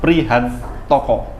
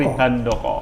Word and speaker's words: Prihandoko: Prihantoko. Benar ya, Pak ya? Ejaannya benar ya? Prihantoko. Prihan pakai D nggih? Ya, Doko. Prihandoko. Handoko ya. Prihandoko.